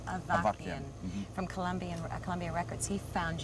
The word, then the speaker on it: Avakian: Was it George, pronounced Avakian, from Columbia Records?